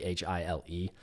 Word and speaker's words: Chile: Well, so there's Voodoo Child, and I think it's pronounced Voodoo Child. It's Chile.